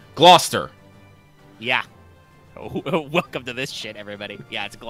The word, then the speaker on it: Gloucester: Cathedral Norwich the Port Town how do you pronounce this processor ah Gloucester Gloucester yeah oh welcome to this